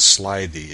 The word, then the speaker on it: slithy: that has often been asked me how to pronounce slithy toves the eye and slithy as long as in writhe and Toves is